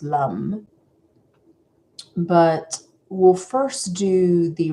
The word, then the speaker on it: lam: The sound um of the the the mantra is the vija mantra is lum and it's actually spelled lam l but it is pronounced lum but we'll first do the resonance sound.